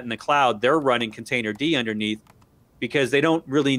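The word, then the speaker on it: containerd: you can run that container d program without docker it doesn't have as many features uh it's it's spelled container with a d on the end that's actually how it's pronounced um yeah and you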